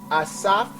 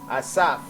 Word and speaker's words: Asaph: Asaph. In ancient Hebrew, it's called Asap. Asap, without the H.